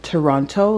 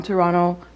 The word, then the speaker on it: Toronto: know canadian twitter because everybody in the movie says toronto like they pronounce the second t whereas people from toronto say toronto like we don't we kind of blend it together so they're like they